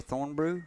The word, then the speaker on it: Thornbrugh: again here with thornbrew did i say that right thorne yeah your last name spelt kind of like vaughn there's a bunch of silent letters in there and it throws everybody yeah it does so